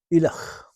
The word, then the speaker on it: Ileach: The name Ileach means man from Islay, and it's pronounced Ileach.